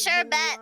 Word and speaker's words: sherbet: It's sherbet. There's no R at the end.